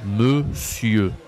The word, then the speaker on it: monsieur: E monsieur le monsieur attention ici he monsieur on a on n mais ça se dit e c'est spécial c'est une exception d'accord le monsieur OK super l'ami merci